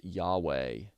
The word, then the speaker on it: Yahweh: YHWH, often pronounced Yahweh or Jehovah.